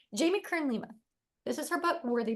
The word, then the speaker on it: Jamie Kern Lima: jam Lee k i I say it wrong Jamie Kern Lima this is her book worthy but she has